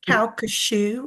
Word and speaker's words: Calcasieu: It's Calcasieu, like shoe. Calcasieu.